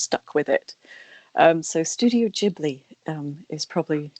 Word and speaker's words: Ghibli: Apparently, Hayao Miyazaki came up with the way of pronouncing this, and it was in Japanese, Studio Ghibli. So it's with a J-I in Japanese at the beginning of the second word.